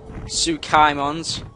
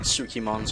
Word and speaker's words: Tsukaimon: You Tsukaimons. There we go, I said it right. I knew it was some, like, Tsukimons or Tuskimons. Stoneman told me what it was.